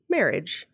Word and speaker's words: Mehrige: twin story covers the marriage family marriage saying that right it's em er H IgE marriage marriage a quietly marry II